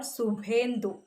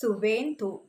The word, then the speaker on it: Suvendu: Suvendu, it is not Subhendu. Okay, its pronunciation is Suvendu.